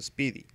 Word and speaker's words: SPDY: caught my attention is lpdy pronounced speedy and is currently in